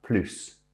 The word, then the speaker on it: plus: However, if there is an adverb or indeed adjective after plus, when it's used as a comparative, we don't pronounce the S.